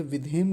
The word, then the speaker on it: विधेम: यहां भी होती है विधेम कह देते हैं यानी हलंत लगा देते हैं विधेम नहीं विधेम ऐसा बोलेंगे हवशा विधेम हलंत नहीं होता ना इसमें तो हलंत बोलेंगे भी नहीं अब बोल बोलेंगे विधेम